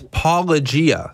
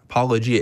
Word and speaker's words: Paulogia: Yeah, it's Paulogia. So it's Paulogia. Paulogia. It's like apologist, apologia.